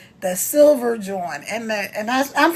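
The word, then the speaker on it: jawn: If you see if it's a a pair of shoes, check out that joint.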